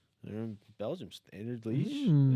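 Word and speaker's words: Standard Liège: Standard Lege, I believe. Yeah. Who's this? They're in Belgium. Standard Leash is how you pronounce it.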